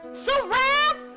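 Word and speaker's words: Seraph: Saraph rhymes with giraffe.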